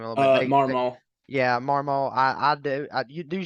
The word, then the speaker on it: Marmol: I want to get on board with Oliver, and you said they pronounce his last name a little bit. Marmol.